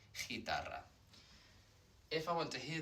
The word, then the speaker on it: guitarra: need to do, basically GU followed by an E or an I, it's just protecting the hard G sound, like in the word guitar, guitarra. I'm not saying guitarra, it's just, here the U is just protecting the G sound, so it doesn't become ch, guitarra.